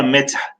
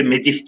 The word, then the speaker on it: medih: Burada meth telaffuzda biraz zorlandığımız için buraya ne yapıyoruz? Bir i katıyoruz ve medih diyoruz.